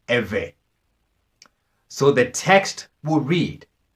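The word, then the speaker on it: עברי: you dredge bait iron in English you will spell this IV RI and is pronounced ever so the text would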